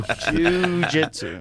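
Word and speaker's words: jiu-jitsu: the move after Jews, but he was like, spell it J-I-U, but we all know what it is.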